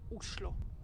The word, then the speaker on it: Oslo: of Norway and actually in Norwegian the right way to pronounce the name of the capital is uslo Oslo is a great starting